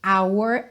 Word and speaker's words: hour: through the our Glass o h de our é mudo ok ao contrário da maioria